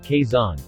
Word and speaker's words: Quezon: Quezon City, KAY-zon, Filipino, Lungsod Quezon, Tagalog pronunciation, Lungsod Quezon, Spanish, Ciudad Quezon, sjuʻðad ʻkɛson,